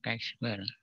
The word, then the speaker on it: chi-square: Misalnya Chi-square, dibacanya Chi-square. Chi-square.